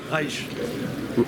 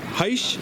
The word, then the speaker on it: Heisch: Heisch. Heisch? Heisch. Heisch. Heisch. I like it. Yeah, what? It's a French pronunciation.